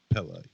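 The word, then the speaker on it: Pelle: Yeah, Pele. Like Pele. The soccer player, right?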